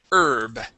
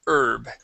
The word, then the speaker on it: herb: And this is herb. Instead of herb, it is herb. Herb. Yeah, so the H here is silent.